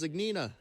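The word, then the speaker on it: Zgonina: That's Zignina.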